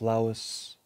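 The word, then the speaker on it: Louÿs: His last name is spelled L-O-U-Y-S, which means that he pretty much came from the Low Countries near Brussels. It could be pronounced Louis or Louis or Louis. Pierre Louys, in 1896, wrote a wonderful book called Aphrodite.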